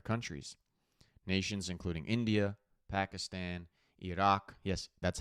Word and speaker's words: Iraq: Nations including India, Pakistan, Iraq, yes, that's how it's pronounced, people, Malaysia and China, those who have been hit the hardest by the ongoing oil blockade.